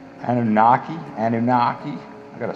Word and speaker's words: Anunnaki: in the last video that big old uh ana nuki anunnaki anunnaki i gotta say it right gotta spell it right somebody told me one guy said